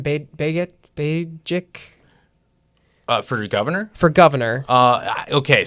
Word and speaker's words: Begich: Bajik? For governor? For governor. Okay, so here's the How do deal you to our pronounce it? listener. Do you Well, know? it's Begich.